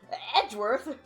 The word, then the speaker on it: Edgeworth: I don't know how you pronounce his name. Oh, Edward. Edworth. Hi, Edworth. Edgeworth.